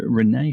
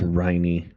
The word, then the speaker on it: Riney: So thank you very much to Renee from Discord for that as well. Oh, it's Riney. Riney, sorry. Yeah. Riney. Yeah. See, that's again, I can't read.